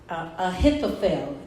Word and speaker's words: Ahithophel: I don't think I even put it up here, but his name is Ahithophel. Ahithopel. Ahithophel. Say that with me. Ahithophel. Ahithophel. Ahithophel. Right? So this is what happened. Ahithophel became one of David's favorite friends.